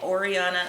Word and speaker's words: Orianna: be my middle name orianna underscore Dorinda again again it's like Ariana but with an oh there you go last